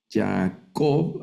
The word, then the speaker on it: Jacob: Por ejemplo, esta palabra se lee Jacob, Jacob, al acento al final, y es el nombre propio del patriarca, Jacob.